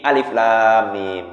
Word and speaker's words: Alif Lam Mim: Kalau nyambung itu alam bacanya. Alam, kan salah alam. Tapi alif lam mim gitu.